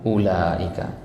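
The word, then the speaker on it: أولئك: tapi enggak dibaca ya Jadi ini di sini enggak boleh kita baca ulaika Enggak boleh ya yang benar apa ulaika kalau enggak dibaca Kenapa ditulis mungkin kita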